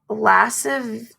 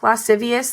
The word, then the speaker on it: lascivious: looked up this word it's lassive I don't even know lascivious lascivious acts with a six-year-old girl my mom always said it wrong so then like when I was reading it I was like I was taught this word wrong so now I have